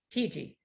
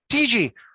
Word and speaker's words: Tietge: Is it Tietge? Am I pronouncing that correct? Tietge. Tietge.